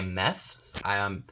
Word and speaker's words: Meth: hook platter made by Meth. Yes, like methamphetamine, spelled like that. M-E-T-H.